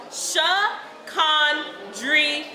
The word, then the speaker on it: Shakandria: It's pronounced Shakandria. No silent letters, no accents. Perfectly pronounced with a drawl of a southern accent.